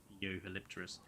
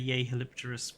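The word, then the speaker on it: Jeholopterus: I've never heard Yehalipterus pronounced like that. Well, it sounds really awkward to pronounce it J-Holopterus. Or G-Holopterus. I think Yehalopterus sounds better.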